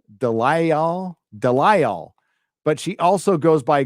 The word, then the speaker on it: DeLisle: As it's pronounced Gray Delisle or VA Gray Delici. I don't know. You're asking me to pronounce something? It's Delisle.